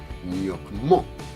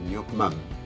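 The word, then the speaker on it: nuoc-mâm: El nyokmam se dice mam, y no porque es una palabra extranjera y tal y cual, es porque en francés no se pronuncia nyokmo, ¿vale? Es nyokmam, porque después nos sigue una B, una etcétera, ¿no?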